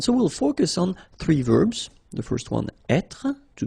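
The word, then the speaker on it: vert: rou remember rou so masculine form don't pronounce the final ver feminine form ver so listen carefully I don't say t but it's ver ver okay so as usual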